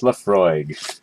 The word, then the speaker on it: Laphroaig: my paper there we go closer there yeah pronounced Lefroy fair enough so let's have a taste of